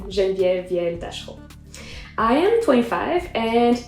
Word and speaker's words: Genevieve: that if you want to call me whatever i'm i'm really not fussy about my name but that is the correct pronunciation of my name genvier vientas i am 25